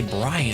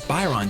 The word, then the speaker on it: Byron: Byron, I keep wanting to say Brian, it's Byron, don't mispronounce his name.